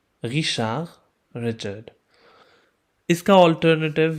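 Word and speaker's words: Richard: French में सी एच की pronunciation श की होगी, जैसे कि इंग्लिश में एस एच की प्रोनाउंसिएशन होती है। तो एंड वाला डी भी हम नहीं पढ़ेंगे।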